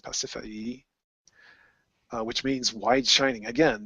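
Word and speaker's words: Pasiphaë: Let's see, it's Pasiphae, I think it's pronounced Pasiphae, which means wide shining.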